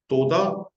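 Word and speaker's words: תודה: तो यहाँ लिखा है तोदा। अब तोदा में हे साइलेंट, ठीक है ना, रब्बा, रब्बा, तोदा रब्बा, हे साइलेंट है, दोनों में हे साइलेंट है।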